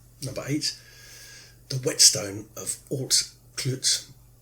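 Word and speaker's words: Altclut: eight the whetstone of alt klutz and altclitz is spelt a-l-t-c-l-u-t if a brave man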